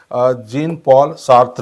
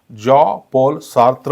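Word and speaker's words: Jean-Paul Sartre: right आणि त्यानंतर आहे जिन पॉल सार्थ त्याचा करेक्ट उच्चार हा जीन पॉल सार्थ होत नसून जॉ पॉल सार्थ असा होतो काय होतो जॉ पॉल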